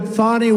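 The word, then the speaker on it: Fani: have to pronounce it fonnie it's called Fanny you have to pronounce fonny I don't know how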